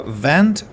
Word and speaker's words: vent: show you you see it's uh with a V not with W in the beginning but with v and and the pronunciation is uh vent versus went uh sorry for being